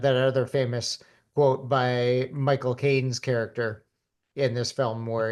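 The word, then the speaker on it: Michael Caine: And and what you have to do is say my cocaine. My coine. Yeah. My cocaine.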